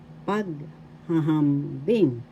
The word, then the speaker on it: paghahambing: Another word for comparison in Tagalog is paghahambing. Paghahambing. First syllable pag, second syllable ha, third syllable ham, fourth syllable bing. The first paghahambing, the first and the fourth syllable has the accent.